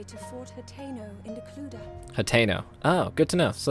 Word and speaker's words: Hateno: Hateno. Oh, good to know. So that's how you pronounce it.